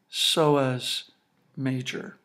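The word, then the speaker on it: psoas major: muscle here must be sois major notice this word is pronounced with a silent P like the word psychology right so if you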